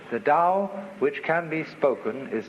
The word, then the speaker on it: Tao: is Paul the Dao Tao pronounced Dao in the Mandarin dialect Tau in The Chiang Hai dialect toe in the Cantonese dialect